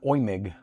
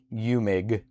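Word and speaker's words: Eumig: You say it like OIMIG. EU is said like oi or oi in German.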